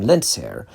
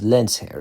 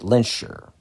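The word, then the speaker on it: Lehnsherr: show, where Magneto's surname, Lensair, is pronounced correctly. The correct German pronunciation is Lensair. So, I'm pronouncing it correctly here. Whereas most X-Men adaptations have characters, including Magneto himself, pronounce it lensure.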